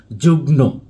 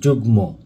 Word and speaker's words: যুগ্ম: ন ফলা যুক্ত রয়েছে, কিন্তু প্রকৃতপক্ষে এখানে যুক্ত রয়েছে ম ফলা।